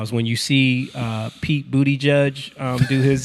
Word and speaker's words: Buttigieg: when you see Pete Buttigieg do his booty. When you see him do his what? That's not how you say his name. I mean, I guess Buttigieg. Buttigieg. It's kind of funny.